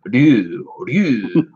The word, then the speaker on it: Ryu: It's like Ryu. Just Ryu. Yeah. It's hard to do for an American.